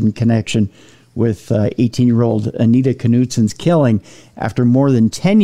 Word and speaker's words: Knutson: That's how we pronounce it in Minnesota. It might be Knutson for all the rest of you, but there's a K in it. So we say Knutson.